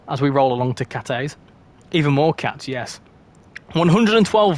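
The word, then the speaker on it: Cathays: but this next station I pronounced it as cafes it's not it's Cates apparently a lot of people said you don't actually need to have the H in it so it's Cates oh blow no out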